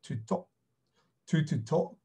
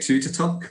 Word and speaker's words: Tuttotooq: we were calling it Tuttotooq, so exactly how you were saying it. At the end, we were chatting to some locals who were saying that it's pronounced, so T would be a D, so essentially it's just